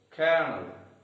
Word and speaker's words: kernel: Word number 4, kernel, again having 2 syllables and the stress is on the first syllable.